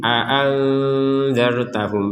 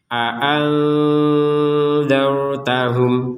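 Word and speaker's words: أأنذرتهم: Ini nun sukun bertemu dengan dal, maka ini dibaca dengan samar. A'anzartahum. Nah, seperti itu. Jadi kalau samar itu antara jelas dan dengung. Jadi enggak dibaca jelas. Kalau dibaca jelas ini kan a'anzartahum. Anza kan jelas itu. Atau dibaca dengung. Itu dibaca dengung. Tidak boleh. Harus dibaca di antara keduanya, yaitu samar.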